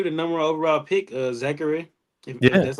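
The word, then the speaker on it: Zaccharie: yeah and he the number one overall pick Zachary that's how you pronounce his name he's been pretty good as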